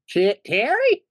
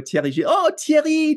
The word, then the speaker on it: Thierry: I was thinking French name that begins with T that Americans are afraid to pronounce.